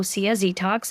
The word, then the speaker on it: Dtocs: it's detox 10 and it's spelled as the brand name DT OA detox and if you're wondering detox is a play on the word detox which means cleansing Journey